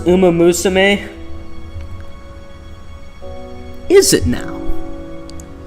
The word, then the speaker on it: Umamusume: Uh, it's pronounced um Musame.